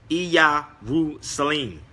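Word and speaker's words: ኢየሩሳሌም: If you study even Amharic, when you say Jerusalem, it's pronounced Iyarusalim.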